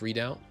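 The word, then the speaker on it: redoubt: It is pronounced readout. Yeah. Problem is that readout sounds like a read out. You know, like a print.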